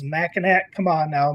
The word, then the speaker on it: Mackinac: Ranger says, Mackinac, come on now, Mackinac.